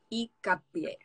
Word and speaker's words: Hincapié: So the first name is, and then the last name, the H in Spanish is silent, so Hincapié. Hincapié.